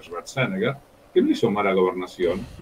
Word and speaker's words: Schwarzenegger: Fue gobernador, igual que Schwarzenegger, que todos pronuncian Schwarzenegger, pero Schwarzenegger, que no hizo mala gobernación.